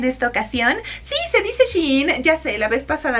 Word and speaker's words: Shein: Entonces realmente no sabía muy bien cómo decirlo, pero en realidad se pronuncia Shein, que sería como ella está in, así como ella in, ella buena vibra.